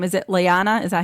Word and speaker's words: Lyanna: episode was when what's her name is it lyanna is that how you say it yes lyanna Mormont who stabbed the Giant in the eye